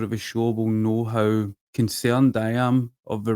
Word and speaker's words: Hoh: Is it Is it Is your surname Ho? I didn't want to. Yeah. Yeah, that's how you pronounce it.